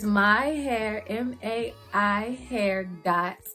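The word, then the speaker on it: maihair.co: But it's myhair, M-A-I hair dot, like a period, co on Instagram.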